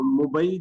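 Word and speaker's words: مبيع: ठीक है जी, इसकी डिफरेंट प्रोनाउंसिएशन हो सकती है, obviously we आर not Arabic. तो मुबई जो है वो ही सबसे क्लोज इसकी प्रोनाउंसिएशन है।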